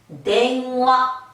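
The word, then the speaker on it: 電話: 댕화, 댕화. 얘가 한 벽을 가지기 때문에 발음을 그렇게 빨리 할 필요가 없어요.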